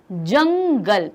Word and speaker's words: जंगल: तो यहाँ क्या है, जंगल, तो जा के ऊपर आप देखेंगे नाक फूलती है, तो यहाँ पर क्या है, जंगल।